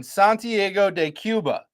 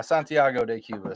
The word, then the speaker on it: Santiago de Cuba: is founded in Santgo de Cuba. Okay. Okay. No, you didn't say it right. No. Santiago de Cuba.